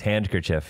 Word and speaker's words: handkerchief: There's a D in handkerchief.